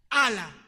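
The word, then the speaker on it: ἀλλά: aquí hay un pero en griego es ala se escribe Alfa Landa blanda Alfa Qué quiere decir pero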